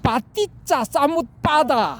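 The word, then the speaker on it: paṭiccasamuppāda: 프라티트야 사무트 파다. 연기 이렇게 발음하면 안 돼. 이건 가짜야. 빠띠짜 사무트 파다 이렇게 해야 이게 진짜야.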